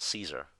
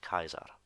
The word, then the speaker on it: Caesar: the answer okay so a lot of people would have said Caesar but his name in classical pronunciation would actually be pronounced Kaiser and the other word